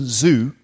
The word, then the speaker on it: Xu: Jason Zhu, spelt Jason XU. Jason Zhu, that's how you pronounce that, isn't it?